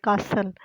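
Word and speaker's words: castle: आगे कासल और टी इसमें साइलेंट है, यानी टी बोलने में नहीं आएगा, लिखने में आएगा।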